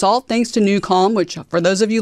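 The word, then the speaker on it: NuCalm: sleep and I need to sleep well so new calm is where I turn to that's how I managed to get here today because I had a great night's sleep and it's all thanks to newcal which for those of you listening on the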